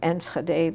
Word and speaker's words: Enschede: And at that same time, approximately, there was an opening in the town of Enschede, which I mentioned before. You want me to spell it?